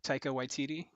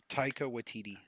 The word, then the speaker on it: Taika Waititi: Bryce Dallas Howard will be directing as well, and then we also have another director that you guys may have heard of, Taika Waititi, will be Oh directing yeah.